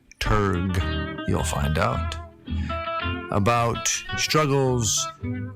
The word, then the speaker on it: dramaturge: And we talk with Paul about, first of all, how do you pronounce dramaturge? Turg, you'll find out.